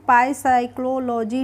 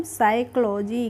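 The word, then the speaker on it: psychology: इसको हम क्या पढ़ेंगे इसको हम पाई साइक्लो लॉजी नहीं पढ़ते हैं इसको पढ़ते हैं हम साइकोलॉजी क्या पढ़ते हैं साइकोलॉजी पढ़ेंगे इसको पाई पी से नहीं पढ़ेंगे तो यहां पर पी साइलेंट रहेगी इसको हम पढ़ते हैं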